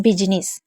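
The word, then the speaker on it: business: हैं उसके बाद है बिजनेस बिजनेस यानी कि व्यापार और इसमें सबसे बड़ी बात य है कि बी और यू को हम बी पढ़ते हैं जबकि इसको ब पढ़ना चाहिए तो हमें यह तो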